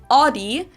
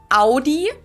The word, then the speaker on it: Audi: Most Americans that I know pronounce it like I just said it, Audi. In German, we say Audi.